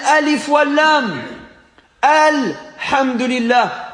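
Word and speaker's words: الحمد لله: du à lui fois de l'homme ont dit el hamdoulilah elle est là les fois l'un a toute son importance il est important de prononcer le à l'uss et le lam car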